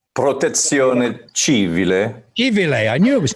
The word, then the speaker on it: Protezione Civile: But you can pronounce this better than me, Seb. Protezione Civile, is that correct? Protezione Civile.